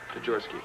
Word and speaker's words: Tajorsky: It's just like it's spelled. Tajorsky. Tajorsky.